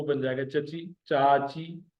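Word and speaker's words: چاچي: चे और अलिफ जबर के सुर के साथ मिले हुए, फिर चे और ये जेर के सुर के साथ मिले हुए।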